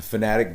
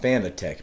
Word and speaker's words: Fanatec: the big one here it's fanatic not fanatic even my own brain i have to you know tell myself it's not fanatec because i read it as fanatec but the company itself